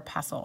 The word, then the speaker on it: pestle: it up and apparently you can say it both ways so one of the